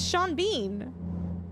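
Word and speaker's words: Sean Bean: Sean, it's Shawn Bean. What are you saying? What am I saying? They would pronounce duvet as dovet.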